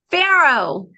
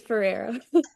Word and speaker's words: Ferrero: the show pharoh oh what was that I couldn't hear you I like the way you pronounced my last name but it's Ferrero Ferrero Ferrero like a Ferrari kind of Ferrero yes yes like Ferrero